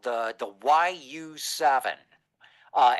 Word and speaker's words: YU7: And this is uh a car called the the YU7. Uh everybody pronounces it U7.